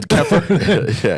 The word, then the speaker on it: kefir: Then kefir? Than what you just described. Kefir rhymes with heifer.